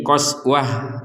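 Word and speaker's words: قسوة: menjadi Kal hijar Nah di sini qoswatan menjadi qoswah nah seperti itu jadi sama-sama dibaca sebagai huruf ha karena berh berhenti Nah di sini ada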